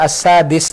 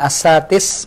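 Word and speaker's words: السادس: Kalau antum baca as-sadis dengan as-satis, mana yang lebih ringan di lisan? Dal, pakai dal, as-sadis. As-satis agak berat.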